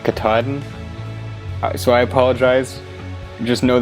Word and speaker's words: Katahdin: is mountain okay so i found out later that it's pronounced mount katahdin so i apologize just know that in the next video where i actually hike mount katahdin i'm gonna say kahadan and that's just how